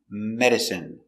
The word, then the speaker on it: medicine: medice I medic n medicine medicine stress on the first syllable medicine medicine not countable